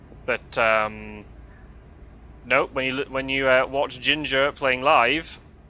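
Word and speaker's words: Jinjer: Another band I really like that I'll plug is a band called Ginger, who are from Ukraine, like the spice, but spelt with a J rather than a G at the front.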